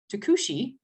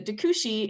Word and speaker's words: Tucuxi: And the Tucuxi, right? That's how it's said, right? It's Tucuxi.